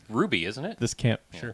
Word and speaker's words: RWBY: the one 'Cause that's it's spelled anime. RWBY. It's Ruby, isn't it?